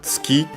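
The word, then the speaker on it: 月: Accent on the last more. The u of tsu is barely heard if at all because it's between our voice consonants.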